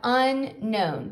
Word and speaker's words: unknown: word is unknown now keep in mind this that k is a silent k so we have unknown to know something means